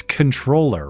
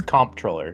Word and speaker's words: comptroller: Tyler Green, does anyone even know what a Now, is it I think it's comptroller, right? But com It's spelled comptroller. It's comptroller, yeah.